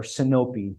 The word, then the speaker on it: Sinop: will work until the Battle of copee which was the or copi the Greek pronunciation today it's the city of sinop in Northern turkey so